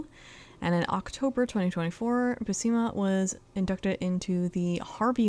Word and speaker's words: Buscema: in October 2024, Buscema was inducted into the Harvey Awards Hall of Fame.